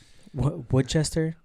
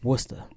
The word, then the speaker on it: Worcester: Woodchester? Worcester. Morons. It's Worcester.